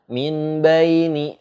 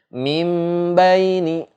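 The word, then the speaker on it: مِن بَيْنِ: Kalau kita baca dalam huruf iklab itu nggak boleh baca min baini gitu. Min baini itu salah. Nun mati ketemu ba hukumnya iklab, maka cara bacanya adalah mim, dimasukkan nun sukunnya ke dalam huruf mim. Mim baini gitu, disertai dengung sebanyak 2 harokat gitu.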